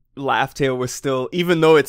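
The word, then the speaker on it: Laugh Tale: good but I guess the dub said laughs tail like they pronounced it laughs tail which is good I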